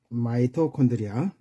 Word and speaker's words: 마이토콘드리아: 그다음에이 세포의 생명 활동에 필요한 에너지를 아 생산하는 곳인 마이토콘드리아 마이토콘드리아는 미토콘드리아라고 발음하기도 합니다.